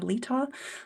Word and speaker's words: Letaw: my name is Lita last name rhymes with seesaw most people call me